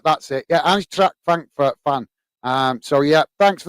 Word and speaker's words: Eintracht Frankfurt: And how do I pronounce it now? Eintracht Frankfurt, that's it. Yeah, Eintracht Frankfurt fan.